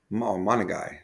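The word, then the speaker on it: Monangai: Monagai. That's how you, I believe that's how you pronounce it.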